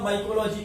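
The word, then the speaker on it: Micheli: Spelling लिखना माइचेली, ठीक है, पढ़ना लेकिन माइकेली।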